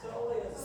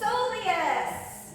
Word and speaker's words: soleus: Soleus. Soleus.